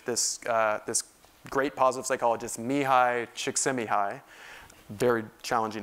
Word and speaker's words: Csikszentmihalyi: And one of the things they discovered in this research, this great positive psychologist, Mihai Csikszentmihalyi, very challenging name to pronounce, but that's how you pronounce it. Csikszentmihalyi discovered that the state of flow is a major source of happiness for people.